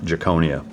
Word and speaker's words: Giaconia: Ladies and gentlemen, welcome to the stage, Mark Giaconia. Did I pronounce that right?